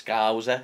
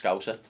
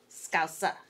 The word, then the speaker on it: Scouser: Hey, Scouser overemphasises the OU at the start. Okay. It's like it's Scouser. It's too long. Okay. It's just Scouser. Scouser.